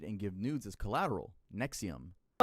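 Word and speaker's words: NXIVM: Is collateral Nexium. Let me introduce you to NXVM pronounced Nexium.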